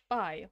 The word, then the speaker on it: phi: not helpful at all the generally accepted pronunciation of phi is phi like fly most people know phi